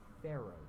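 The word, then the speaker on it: faro: level four is what's called a pharaoh shot not like the egyptian pharaohs it's spelled f-a-r-o it's actually named after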